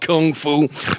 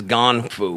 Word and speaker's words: Gong Fu: Some people, the masses will call it Kung Fu, but I use the proper pronunciation, which is Gong Fu.